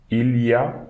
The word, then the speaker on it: il y a: Okay, this we can read il y a, okay, but most of the time French people will say il y a. So ya, okay, we are reading this as one single word, ya.